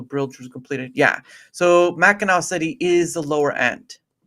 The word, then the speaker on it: Mackinac: It's pronounced Mackinac.